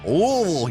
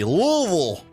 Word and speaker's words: Louisville: Kentucky I said it louville you got to sound like you got marbles in your mouth to correctly pronounce the city louville I cracked myself up